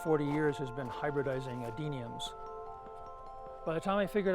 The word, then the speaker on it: Adenium: A lot of people call them desert roses, but I don't like that name, so just remember adenium. It's only 3 syllables, easy to learn.